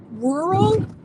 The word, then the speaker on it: rural: um in the rural that's a hard word to say rural r u r a l is that how you spell it rural rural rural Ral it sounds very difficult for me to say rural Georgia I sound